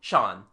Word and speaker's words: Jean: and have called himself Jean matu he goes to AIA the local pronunciation turns jean into Shan he is called Shan matu our man offers no